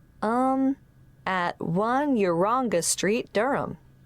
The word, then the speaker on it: Durham: Of course, I should know that, but it's just one of those names that sounds quite different from the way you spell it.